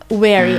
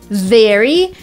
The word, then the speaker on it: very: similar in the word very we kind of touch our lip a lower lip with our upper teeth so let's try together